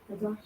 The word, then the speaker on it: Qadash: Qadash. Qadash. Excellent. Okay, good job. And now you have holy convocation. How would you pronounce that?